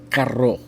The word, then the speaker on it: carro: If it's in the middle and it's only one R, caro, which is expensive, carro, which is R. That's two R's. Carro, two R's, caro, one R. Little difficult for some American people to pronounce.